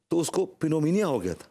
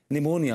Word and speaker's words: pneumonia: When she was two days old she contracted 'penomia'. Angoori, it's not 'penomia', it's 'pneumonia'. The p is silent.